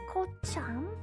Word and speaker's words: kocham: Police CH is pronounced like H. For some reason, you start to pronounce it CH like CI. And that sounds weird. So try to learn. Ooh. Like, Kocham?